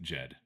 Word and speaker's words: Ged: the G should be soft, as it should be with Jed.